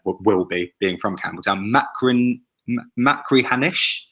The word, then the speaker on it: Machrihanish: I was based, I'm going to try and pronounce this, Ian, you might be better than me, will be, being from Campbelltown. Machrihanish. Machrihanish, yep.